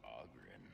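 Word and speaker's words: Oghren: The name's Ogren, by the way. But the ladies pronounce it Ogren.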